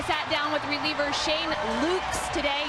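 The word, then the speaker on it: Loux: down with reliever Shane luks today yes that X is pronounced just ask him I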